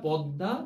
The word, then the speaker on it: পদ্মা: আমাদের মূল অধ্যায় যাচ্ছি পদ্মা এটির উচ্চারণ পরবৃত থাকবে বা বিবৃত থাকবে সুতরাং পটা এর এর মত করে উচ্চারণ করছি তারপর তপর দা এভাবে খুব সিম্পল আমরা পদ্মা এভাবে উচ্চারণ করে থাকি সুতরাং এটি লিখিত রূপটিও